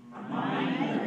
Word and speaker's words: minor: So minor, M-I dot N-O-R, pronounce minor. Syllable stress code? 2-1. Minor.